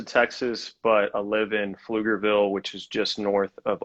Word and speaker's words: Pflugerville: but i live in flugerville which is just north of austin uh so and pflugerville you know well strangely enough is spelled with a p um so it's pf um always funny yeah